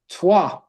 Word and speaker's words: Troyes: But today in French, they don't pronounce the S. The S is silent at the end, that for sure. Troyes.